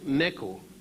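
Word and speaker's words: Necho: During the time of King Neku, N-E-K-U, or it's spelled sometime N-E-C-H-O, the second, and that would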